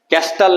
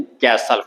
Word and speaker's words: castle: कैसल आया था CASTLE, इसमें टी साइलेंट था, कैस्टल नहीं कैसल, कॉमा एकार सो लो, कैसल।